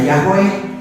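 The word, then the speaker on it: Yahweh: memakai dua sama ini nanti orang Kristen pakai yhwh bacanya yahwe dimarahi oleh orang Yahudi salah kamu baca gitu orang Kristen pakai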